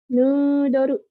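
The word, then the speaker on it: ヌードル: Karena O-nya 2, jadinya dibacanya panjang ya.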